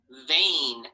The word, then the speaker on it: vein: EI, vein A. The veins in your body. EI, vein A. So it makes the sound A, vein. Hear it? Vain. But we spell it with an EI.